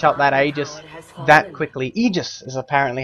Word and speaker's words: Aegis: seen somebody snatch up that Aegis that quickly Aegis is apparently how it's supposed to be pronounced is the Miranda Rock going to come